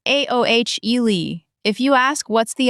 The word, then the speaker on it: aioli: And aioli is a garlic mayonnaise, pronounced aohle.